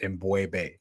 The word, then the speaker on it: M'Bwebe: Um correct pronunciation of my name is Embu.